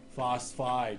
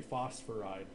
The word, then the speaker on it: phosphide: Phosphide. So you just take the first syllable. A lot of people say phosphoride. No, it's just phosphide.